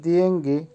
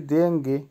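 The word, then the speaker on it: деньги: দিয়েঙ্গি, দিয়েঙ্গির অর্থ হবে টাকা বা মানি, উচ্চারণ হবে দিয়েঙ্গি। আবারও বলছি দিয়েঙ্গি, দিয়েঙ্গি।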